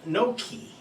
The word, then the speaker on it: gnocchi: then for the pasta the pasta is pronounced no key so that is the italian version and i have my